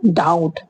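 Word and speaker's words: doubt: Next है डाउट। तो डाउट में भी क्या है? बी को साइलेंट किया गया है।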